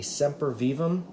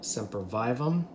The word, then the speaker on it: Sempervivum: you right now okay this is a semper vivam or sempervivum depending on how you want to pronounce it it is really a